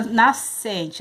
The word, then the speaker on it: nascente: É igual na nascente, a gente não fala nascente, né? Nós sabemos que nascente tem o S e o C, mas nós não falamos nascente, dígrafos.